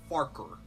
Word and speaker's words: Farquhar: Farquhar. It's actually pronounced Farker. Did you just swear in front of the passengers? No, that's... That is how it's pronounced, but Farquhar, it sounds much better.